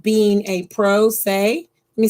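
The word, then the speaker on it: pro se: right to represent yourself it's called being a pro say let me spell it for you p-r-o and then s e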